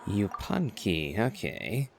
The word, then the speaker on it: Yupanqui: Yupanqui, okay. I had no notion how to pronounce that, so thank you for actually giving a voiced line for that.